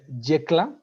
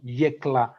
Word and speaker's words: Yecla: well the the place the location is uh jekla we pronounce it like that like yellow yekla in this case decla